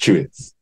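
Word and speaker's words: Tuitt: I had a guy in my class whose surname was Chewitz, but T-U-I-T-T. Okay. But it's pronounced Chewitz. It is basically...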